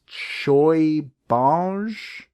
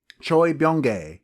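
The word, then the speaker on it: Choi Bounge: Krueger his name is Choi Bosch Choi Byung gay there we go that's how you pronounce it Thank You Wikipedia I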